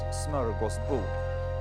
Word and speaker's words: smörgåsbord: It's like a big smorgasbord of, that's a Swedish word, pronounced smörgåsbord, of really tasty sandwiches,